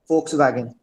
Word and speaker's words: Volkswagen: Volkswagen. Sorry, come again, Atif. Volkswagen. Volkswagen. Okay. What about others? Volkswagen. Volkswagen. Yes, Vakar. Right? So the correct pronunciation is Volkswagen. It's not Volkswagen, right?